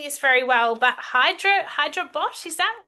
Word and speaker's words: Hyderabad: Yes, and you're based in India and I'm not pronouncing this very well, but Hyderabad, is that right, Jay? Yeah, How do you Hyderabad.